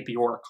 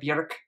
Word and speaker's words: Björk: pronouncing your name properly I'm really trying not to say Bjork like pork I've been getting you know people saying that I always pronounced it like that it's just how I've always heard Western media address her but in Iceland it would be pronounced more like Bjork with the roles are and all of those things and I don't have